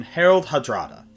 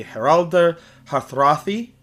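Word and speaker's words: Harald Hardrada: So first we have uh in the English pronunciation Herald Hadrada and in his original pronunciation it would be Herald Hathrathi.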